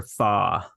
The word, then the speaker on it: Fach: Yeah, I have a very, very oddly spelt last name that Yeah, will never be pronounced correctly if just read. So I yeah. kind of tried to spell my name how it's pronounced for my business. So it's spelled Right. Fach, so Fach, but it's Yep. pronounced Fa. So I But it's chose pronounced Fa.